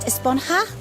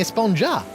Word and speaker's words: Esponja: huh actually it's pronounced esponja with an H sound at the end really but we've all been saying a sponger yes I know it's